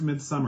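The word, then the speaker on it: Midsomer: and still SP Midsummer it is spelled midmer pronounced Midsummer because they're British okay and um but it's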